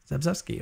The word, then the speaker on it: Zagzebski: Linda Zagzebski? Yeah, I'm so bad with names. Zagzebski, okay.